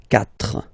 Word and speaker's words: quatre: So you get this q u a, but then the sound that you will pronounce is k, okay? Quatre, quatre.